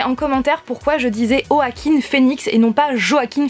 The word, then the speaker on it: Joaquin: niveau des interviews de au hacking phoenix et à chaque fois on disait enfin les personnes disaient au hack in phoenix et non pas joaquin phoenix voilà pourquoi je je le prononce comme ça il ya également des